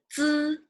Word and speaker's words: 资: And the one we learned today, 资 like needs, 资、吃 like students, 吃、思、知、吃、诗、日、一、乌。